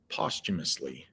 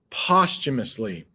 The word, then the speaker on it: posthumously: make it even bigger posthumously posthumously anytime you see post or in this sense it's pronounced post posthumously anytime you see